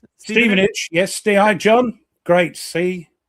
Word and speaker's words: Stevenage: Stevenage. Yes. Stei, John. Great. See, they like the time. Ste, not Stephenage. No, Steen age. It's Steven.